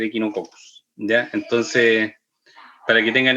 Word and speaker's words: Echinococcus: Entonces van a haber muchos parásitos como trichinella, por ejemplo, que se pronuncia triquinela, o Echinococcus, que muchos le dicen Echinococcus, debería ser Echinococcus, ¿ya?